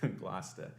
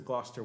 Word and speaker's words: Gloucester: place in america where they know how to pronounce that word gloucester um so this tradition in england was back